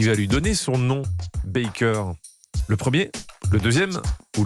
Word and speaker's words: Baker: Son fils a rappelé récemment que durant les dernières années de sa vie, Joséphine répétait qu'elle voulait qu'on prononce son nom Baker Ah oui. et non Baker à l'américaine.